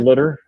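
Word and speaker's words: Schlittler: Schlitler. Is that how you say his name last night? Slitter. Yeah, Schlitter.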